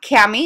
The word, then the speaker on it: Kami: store type in the name of the app Camy it's spelled k a Mii press enter and it